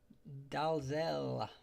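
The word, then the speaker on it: Dalzell: Um, Dalzel is um I know that's uh one of the many variations of how to pronounce that name. Um, but I always say that I knew a Dazzel from from here from Northern Arm and he pronounced the Dozel, so I will too.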